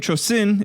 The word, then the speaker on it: Chosin: of the Korean Peninsula the name Chosin is the Japanese pronunciation of the Korean place named Chang Jin and the name stuck